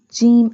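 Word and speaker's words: جيم: Qaf alif, jim alif, jim. Jim pronounced from the middle part of the tongue touching the middle part of the palate.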